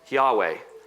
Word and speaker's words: Yahweh: And we don't really know how that is pronounced, but that's how we pronounce it, Yahweh.